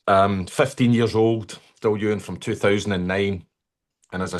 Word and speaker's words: Dailuaine: Um so from um Duan Daluna Dalwana however you want to pronounce it. Um people will argue all day. If you phone up the distillery, the person answering the phone normally says, "Duan distillery, can I help you?"